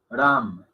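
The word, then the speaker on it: राम: Ram.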